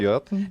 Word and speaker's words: Jotun: I don't know how to pronounce Motor? shit. Okay? It's known as a Okay, not motor. Jotun?